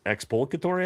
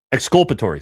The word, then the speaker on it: exculpatory: I believe it's expulcatory evidence. Yeah, I'm not saying that right. Uh, hold on. Or am I saying it right? Yeah, it's expulsatory evidence. So, I'm saying it right. I'm just I don't know why I'm brain farting there. Exculpatory. Sorry. Exculpatory evidence.